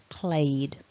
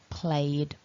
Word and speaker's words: played: in a vowel then our e d is actually just pronounced by adding a d in this case played played and if that's um